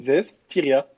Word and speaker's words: Zestiria: Zestria. C'est Non, tu- Zestiria. C'est ce que j'ai Oui, dit. mais C'est ce qu'il a dit. dis C'est ce Zestria. qu'il a dit à Voilà. 3 syllabes près.